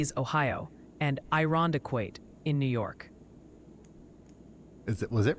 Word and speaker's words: Irondequoit: Oh, and the pronunciation posse sends its regards. Multiple viewers are suggesting it's Cadiz, Ohio, and Irondequoit in New York.